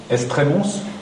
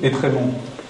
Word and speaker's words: Étrémont: Alors, vous avez un mot qui est amusant, parce que la commune d'Étrémont, maintenant, enfin, Estrémons, pour parler comme un étranger, sur la route de